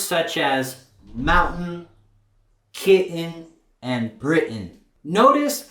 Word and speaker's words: Britain: You can still say mountain, kitten, and Britain. That's 100% correct. But in spoken English, most Americans don't pronounce it like that. They'll rather replace it with this glottal stop.